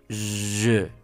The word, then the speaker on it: je: Pero esta es la ricura, esta es la característica de este idioma, la pronunciación es algo que caracteriza mucho a este idioma. Y tenemos el pronombre je.